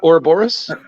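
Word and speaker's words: Ouroboros: or a robo-russ yes uh also uh what aerobarus is is the uh serpent that eats its own tail or are you talking about or Boris yeah thank you for the correct pronunciation oh the never-ending story snake yeah this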